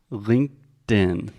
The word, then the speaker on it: LinkedIn: as well yeah okay let's begin with the pronunciation say it with me Alexia LinkedIn LinkedIn when Alexia is being very ambitious